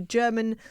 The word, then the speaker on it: Jermyn: if you would like more information that's the German Street Theater uh I know we've pronounced it a number of different ways this